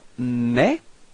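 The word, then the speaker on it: mes: well repeat okay plal so you've got me repeat me so you can see that you don't pronounce the final s okay but it this combination a s gives you the the sound e okay me repeat okay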